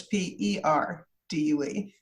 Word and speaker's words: Perdue: But Purdue is spelled like chickens and not like the university, so it's Perdue.